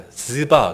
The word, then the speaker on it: 시바: 이게 히브리어 원어로는 지바. 그래서 제가 그럼 지바 이럴까? 또 그것도 좀 그렇잖아요. 그래서 그렇다고 또 발음을 약간 좀 슬렁슬렁해서 쉐바 이럴까? 또 그것도 좀 그렇고 좌우장 끝까지 발음 때문에 애먹을 것 같은데 그냥 시바 여기 기록된 대로 시바 할 테니까 여러분들이 아마